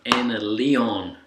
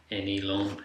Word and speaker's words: Anleon: So I recently did a review on this, the I'll say it right this time, Anleon, not Anelon as I keep calling it, wireless in-ear unit.